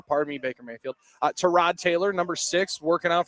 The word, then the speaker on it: Tyrod: By the way, that that pronunciation has changed again. I've been told emphatically by Packers PR that is Tyrod Taylor.